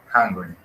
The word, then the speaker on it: hungry: Yeah, remember the pronunciation of H. Recordemos la pronunciación de la H, ahí también se pronuncia. You are hungry.